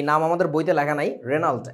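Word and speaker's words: Regnault: আমাদের বইতে লেখা নাই রেনাল্ট আরই কি জানি আরইজি এন ইউএলটি জিটা সাইলেন্ট রেনাল্ট উচ্চারণটা আর কি হেনরি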